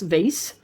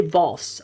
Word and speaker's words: vase: to squeeze it into this glass vase or should i say voss i'm not sure what uh pronunciation i would like to uh stick to so today is going to be vase yesterday it was voss really doesn't make a difference you know what i'm